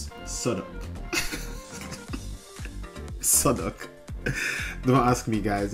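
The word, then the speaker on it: Southwark: yeah southw becomes guys guess safak becomes sodok sodok don't ask me guys don't ask me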